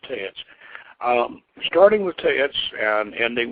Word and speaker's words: TEX: lowest, which is Teats, and I spelled text, by the way, but it's pronounced Teats.